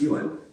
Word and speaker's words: Yuen: In my family, it was always pronounced Yuen.